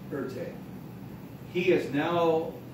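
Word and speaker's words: Erté: Anyways, he became known by his initials in France, but with the French pronunciation, Erte.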